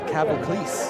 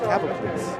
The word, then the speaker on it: Cavoclis: That is Cavoclis. That's how you say it. Cavoclis.